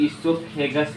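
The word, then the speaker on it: oesophagus: आज प्रोनाउंस करते हैं तो वो साइलेंट हो जाता है, इसलिए हम लोग ईसोफेगस बोलते हैं, वो नहीं पढ़ते, जिसको हम भोजन नल बोलते हैं, नली, भोजन नली हिंदी में बोलते हैं।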